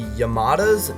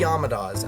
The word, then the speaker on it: Yamadas: Brady here uh yeah the movie is pronounced the yamadas not the yadas I know this and